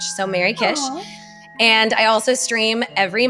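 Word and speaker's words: Merry Kish: Instagram, Blue Sky, uh, under my name, but it's spelled M E R R Y K I S H. So, Mary Kish.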